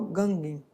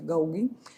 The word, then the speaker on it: Gauguin: Acho que é essa a pronúncia, Gauguin, experimentou, então, o uso simbólico da cor e do traço.